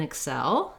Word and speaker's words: excel: both syllables excel excel importantly i just want to be short and unstressed on that first vowel first syllable and hold the second syllable longer excel then when we're talking